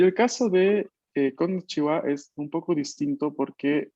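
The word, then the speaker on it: こんにちは: y la sílaba ha, pero que mantiene su pronunciación histórica de wa. Así que a pesar de que la escribamos con konnichiha, esto se pronuncia konnichiwa, konnichiwa, Konnichiwa.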